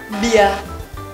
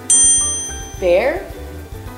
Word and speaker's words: bear: If you often say bia, don't worry, many Vietnamese students make this mistake. But the correct pronunciation of this word is bear, not bia.